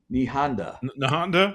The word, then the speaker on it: Nahanda: just wanted to say, Queen Nahanda, am I pronouncing it right? Nahanda?